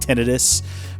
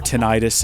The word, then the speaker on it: tinnitus: want a tangent reading about tinnitus or tinnitus if you want to be wrong allegedly again don't